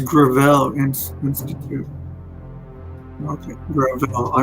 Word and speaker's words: Gravel: Oh, it's Gravel Institute. Okay, Gravel. I mispronounced it.